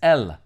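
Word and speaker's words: ال: In the Arabic language, however, the difference is made by using the definitive article the, pronounced in Arabic as el.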